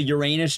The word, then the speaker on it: Uranus: Uranus. You don't have to pronounce it Ur anus.